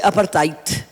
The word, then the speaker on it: apartheid: En inglés se dice apartheid y en africano se dice apartheid.